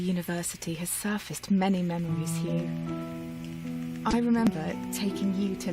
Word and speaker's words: Hugh: No, she says Hugh. That's the boy's name. And it actually is a... It's not that common a name anymore, but it's spelled differently than the word hue, meaning color. It's spelled, I always mess this part up. The name is usually spelled H-U-G-H, not H-U-E, but no, she is saying Hugh.